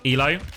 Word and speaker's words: ILO: ILO is pronounced like Elo.